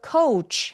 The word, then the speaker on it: coach: 그래서 코치는 coach 우까지 느껴지게. 정말 다양한 스펠링인데 이중 모음인 거 느껴지세요? 네. 스펠링만 봐서는 알 수가 없다.